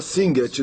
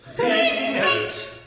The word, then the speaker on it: Singet: Então, no coro 2, ele começa com a palavra Singet, 2 sílabas. Singet, singet.